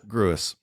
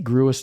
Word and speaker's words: Gruis: a good time out at gruis or Gru gruis I say gruis too it's Gru some people say Gru they're